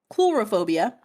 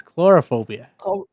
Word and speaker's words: coulrophobia: The fear of clowns, also known as coulrophobia. That's chlorophobia. Coulrophobia. Sorry. So yeah, it is not bozophobia. It is coulrophobia.